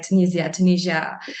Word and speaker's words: Tunisia: Yes, and I'm glad to know that you visited my country, Tunisia, like Tunisia. A lot of people they do pronounce this differently many times.